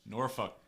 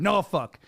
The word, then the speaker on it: Norfolk: Norfolk. I tried that on voiceovers. I butchered it, remember?